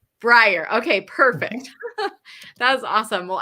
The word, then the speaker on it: Bryer: want to make sure I'm saying it correctly Brier Brier okay perfect that awesome well I'm gonna go